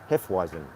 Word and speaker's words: Hefeweizen: Hefe was it heifer wasn't that's how you pronounce the name if he was in Hef he wasn't Hefeweizen at our triple Amber and a black beer